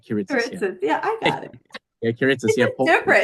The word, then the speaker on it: Kiritsis: kitus kitus yes so the way that it's pronounced is kitus Right kit yeah I got it kitus different it's very different but I love the